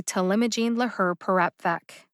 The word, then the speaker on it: talimogene laherparepvec: perepvec how did i know how to say to limogene lahr perapvec good question this drug name is intimidating to